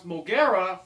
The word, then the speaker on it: Mogera: a lot of people may recognize MRA or pronounce mogera from Godzilla versus Space Godzilla so this is